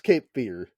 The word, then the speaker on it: Cape Fear: r e but it's Cape Fear yeah uh it's pronounced fear yeah and of course